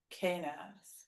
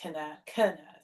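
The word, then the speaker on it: Kenaz: Well, actually, the letter K in the Elder Futhark runes is Knaz. Knaz. I'm trying to say this. It's the first syllable has the stress.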